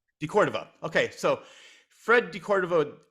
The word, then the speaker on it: de Cordova: Well, I want to talk about this because you mentioned Fred, was it, how's it pronounced? De Cordova? De Cordova. De Cordova.